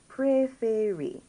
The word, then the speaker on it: préférer: So we have the E with an acute accent on them. You get that A sound, not A.